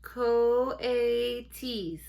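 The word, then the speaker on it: coatis: Reading from the letter, pronounced coaties.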